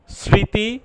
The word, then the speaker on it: স্মৃতি: শব্দের আদিতে মফলা যুক্ত হলে সেই ম অনুচ্চারিত থাকে, যেমন স্মৃতি, স্মরণ।